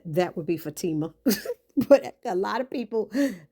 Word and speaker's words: Fatima: And she said that would be Fatima. But a lot of people pronounce it Fatima. That's how it is. A lot of the African people I know say it that way.